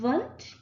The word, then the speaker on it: Wundt: that in 1879, Wilhelm Wundt, he was German, so you don't pronounce the W's, or you pronounce them with the V sound instead of the W sound.